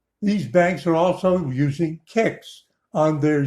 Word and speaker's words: CICS: IMS and others you you mean people are still using kicks that's how you pronounce that let's look up